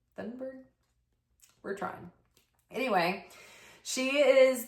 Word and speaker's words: Thunberg: Thunberg is the way that her name is spelled, but she's Swedish. She's from Sweden, so her name is pronounced in a much more sophisticated way than I was able to say it.